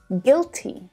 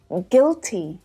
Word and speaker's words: guilty: Now let's check out a couple of other examples because it's quite common to see UI in English words, but to only hear the short I sound pronounced, like in circuit, biscuit, guilty, and guitar.